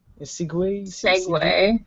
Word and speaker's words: segue: Segway. Segway. Okay. So Segway, like this weird machine that.